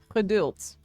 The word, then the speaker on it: geduld: It is geduld. with a beautiful sound. Geduld. Here, this is how you spell it.